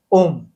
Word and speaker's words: ओम: ब्रह्मांड के तीन साउंड अ उ और म ये तीनों जो है बेसिक साउंड है इन्हीं से मिलकर के बना है ओम और बच्चा जब पैदा